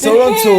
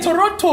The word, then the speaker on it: Toronto: Toronto. You pronounce the T. Yeah, Toronto.